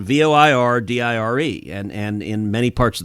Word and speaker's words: voir dire: have said, Justice Scalia, I understand that in other parts of the country there may be more Frenchified pronunciations of those words, but in the great state of Texas, it is voir dire, and representing Texas, that's what I'll be using.